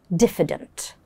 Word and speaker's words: diffident: The advanced adjective to describe this personality is diffident. Diffident. Let's have a look at its pronunciation. Diffident. So the moment you get here, diff, yeah? But then the I has a sound.